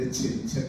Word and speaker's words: Escherichia: Lo tradicional de las pronunciaciones del latín académico es que la CH suene como una K. Por eso, si bien puede decir Escherichia coli, y suena muy